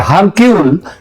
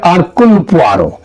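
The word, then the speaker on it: Hercule: আঘাতটা বৃষ্টি এবং তার বন গোয়েন্দা আরকুল পোয়ারো এটা যদিও ওই উচ্চার উচ্চারণে এটা হয় হারকিউল কিন্তু একচুয়ালি উচ্চারণটা হচ্ছে আরকুলার তিনি যদি আজ বেঁচে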